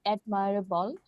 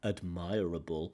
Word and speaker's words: admirable: She gets the pronunciation wrong. Admirable. Admirable is certainly accepted, I think, by many people. I know a lot of L1 users who use the word admirable. I think it's okay. Admirable is the more conventional pronunciation, but I like changing that part of speech.